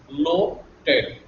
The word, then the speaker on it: l'hôtel: In French, this H is never pronounced. H is never pronounced. So it is as good as H is not there. So we pronounce it as l'hôtel.